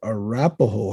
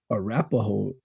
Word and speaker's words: Arapahoe: Arapahoe is a mispronunciation of the Crow word Really?